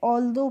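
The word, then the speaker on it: although: ए एल को पढ़ेंगे हम फ्रेंड्स ऑल और टी एच को पढ़ेंगे द ओ यू जी एच को पढ़ते हैं हम ओ करके। तो यह ऑलदो पढ़ते हैं।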